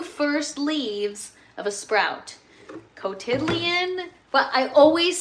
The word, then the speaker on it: cotyledon: Cot like a portable bed. Cotyledon. Oh, see?